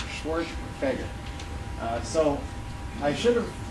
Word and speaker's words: Schwerdtfeger: long last name and it's pronounced schwart fager schwar fager uh so I should